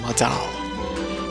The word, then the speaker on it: Modal: You have Modal Shift. It's not pronounced model, is it? It's like Modal.